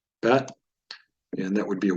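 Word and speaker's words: בּ: It's pronounced ba, bet.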